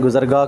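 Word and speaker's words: گزرگاہ: भी ज़रूर विज़िट करें, गुज़रगाह को। मैंने शुरू में इसका प्रोनाउंस जो है ना इसको अच्छे से नहीं किया था, लेकिन इसको गुज़रगाह कहते हैं, ठीक है।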